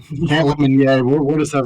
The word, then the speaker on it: Lemonnier: Camp Lemonnier. Camp Lemonnier.